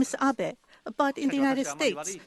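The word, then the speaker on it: Abe: over to the White House my name is Abbot but in the United States some people mistakenly pronounce my name is ape because even in Japan everybody knows the name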